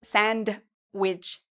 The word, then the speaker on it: sandwich: Also, if you like to eat sandwiches, you don't need to say sandwich, okay? We say sandwich. So the D is silent.